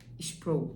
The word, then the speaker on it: Sproul: Sproul, acho que é assim que se pronuncia, S-P-R-O-U-L.